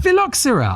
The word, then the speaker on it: phylloxera: absolutely destroyed by a thing called the philoxerde pronounce it Tom. Philoxera I can see that vastatric philoxer vastric